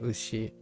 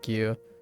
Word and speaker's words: 牛: Oh, right. Ushi. I said Gyu. Gyu is the other read.